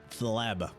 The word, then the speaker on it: Fleb: How do you pronounce that again? Fleb.